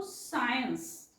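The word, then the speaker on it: science: आलेल असेल तर त्यावेळेस या सी चा वेगळा उच्चार होत नाही म्हणून आपण याला वाचतो सी आणि याला वाचतो सायन्स क्चुअल सचा उच्चार इथे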